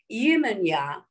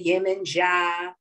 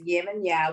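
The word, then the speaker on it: Yemanjá: Our queen is known as Yemenya. Some people say Yemenja, but it's Yemenya.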